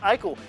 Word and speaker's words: Eichel: lead but here's Jack Eichel he's going to take it in for the score here he's so good because his name rhymes with Michael moving on the the